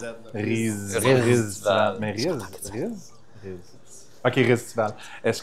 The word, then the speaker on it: Riztival: Tu dois prononcer le Z. là. Ristival.